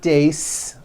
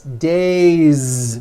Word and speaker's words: days: It's not days, unvoiced, it's days with a voiced Z ending.